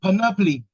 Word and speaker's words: panoply: The stress is on the first syllable, panoply.